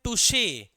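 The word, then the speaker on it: touché: पहले वाले को हम क्या पढ़ते हैं? टच। दूसरे वाले को हम क्या पढ़ते हैं? टुशे। इसको टच ही मत पढ़ लेना।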